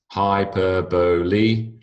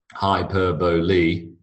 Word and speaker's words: hyperbole: So hyperbole, it could of course be ole, because O-L-E as in mole is, or pole is a very normal way that you would pronounce P-O-L-E. That's not the case with that particular word.